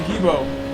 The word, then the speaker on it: Gibo: We've given up some ground to the Geo boy. Geo 304. No, the GIBO, the Gibo? The Gibo. I've read his name wrong. It's Gibo.